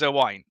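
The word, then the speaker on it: Owain: My name is Owine, right? It's a Welsh name, but because people across the bridge can't say it properly, for some reason they can't get the two syllables right.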